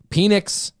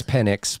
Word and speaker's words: Penix: but he's not 100 no penix say his name right give the dude that respect I'm a child yeah it's penix by the way incredible it just he's